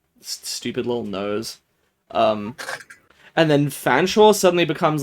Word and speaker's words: Fanshawe: This is the name of a town in England which genuinely is pronounced Fanshawe.